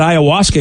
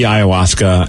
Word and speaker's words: ayahuasca: And I'm still on the path, but I feel like I'm a lot closer to that ayahuasca experience as far as how I feel about life than I did back 10, 15 years ago.